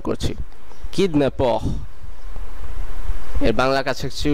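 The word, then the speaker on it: kidnappeur: এরপরটি হলো জলি, জলি এটি প্রায় ইংলিশের মতনই, এর অর্থ হলো খুশি, যার বাংলা কাছাকাছি উচ্চারণ জলি। এরপরের শব্দটি হলো কিডন্যাপর, কিডন্যাপর, কিডন্যাপর যার অর্থ অপহরণকারী।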